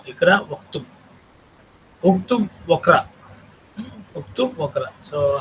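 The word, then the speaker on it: اقرأ اكتب: Because this Alif is Hamzatul Wasl, so if it is preceded by any word, this Alif gets assimilated in the pronunciation. Ikra Uktub. We should not say Ikra wa Uktub. No, Ikra Uktub.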